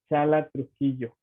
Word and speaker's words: Chala Trujillo: Oiga, sí pronuncié muy bien su nombre. Sí, perfecto. Ah, Ajá. muy bien. Sí, tenía yo como esa incógnita, ¿no? De no saber si se pronuncia así como se escribe.